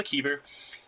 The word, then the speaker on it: McKeever: Was that pronounced correctly, Mckeever?